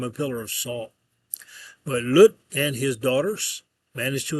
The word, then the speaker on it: Lot: His name would be pronounced uh Lut uh in Hebrew.